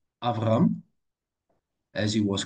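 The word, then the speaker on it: אַבְרָם: Avram.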